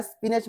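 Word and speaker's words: spinach: बघा बऱ्याचदा काय होतं हा जो सी एच आहे याचा उच्चार कधी क होतो कधी च होतो पण या स्पिनच मध्ये याचा उच्चार च आहे हे लक्षात ठेवा कारण की जेव्हा स्टमक नावाचं स्पेलिंग येतं त्याच्यामध्ये सी एच चा उच्चार हा क होतो ओके पण या स्पिनच मध्ये याचा उच्चार काय आहे च असा हा आहे ठीक आहे स्पिनच स्प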